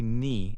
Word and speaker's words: knee: This is also true for words like knee, say knee, and knife, say knife. Another example is knock, like when you knock on a door. The K is silent in all these words.